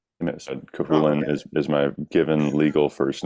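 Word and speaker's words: Cú Chulainn: Cuchulain, or how it's more often pronounced over yonder in Ireland, or Cuchulain, means the Hound of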